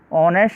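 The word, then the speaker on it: honest: ऑनेस्ट से पहले article AN का प्रयोग करेंगे क्योंकि यहाँ पर एच साइलेंट है और वोविल O की ध्वनि आ रही है।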